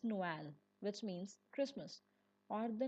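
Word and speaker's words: Noël: The trema stands between them and says, "No, you must pronounce both of us." Take the word for Christmas. Noel Noel.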